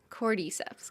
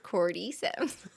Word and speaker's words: cordyceps: do you say it cordyceps chord Corte as opposed to core D got it coreyceps cordyceps I think you need